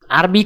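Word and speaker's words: أربعة: আরবি ক্রমিক সংখ্যা 2 দেখতে এরকম, উচ্চারণ হবে ইতনিন।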